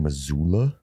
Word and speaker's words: Missoula: But I think it was right outside Missoula. Somewhere around there. What did you say like that? Because that's how they say it. Missoula.